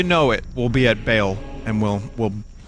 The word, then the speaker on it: Baal: And, you know, before you know it, we'll be at Bale, and we'll... I thought it was Baal. I thought that's how you pronounced it.